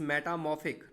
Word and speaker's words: metamorphic: It is metamorphic, not metamorphic. R is silent.